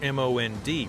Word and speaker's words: MOND: gravity modified newtonian dynamics or mond pronounced mon suggest that galaxies are